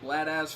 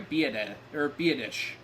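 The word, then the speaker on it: Biadasz: They're going to get Bladaz for clipping. They are getting Bladaz for clipping. I'm sorry, Biadish. That's how you pronounce his name.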